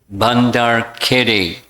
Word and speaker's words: Badari: and a place, I think I've got the pronunciation correct now, Badari, a village north of Udupi.